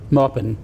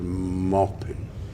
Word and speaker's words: Maupin: arad's second name correctly should we just hear how it should be pronounced Morin that's what I said some people say you said Mor he says moin it's a sort of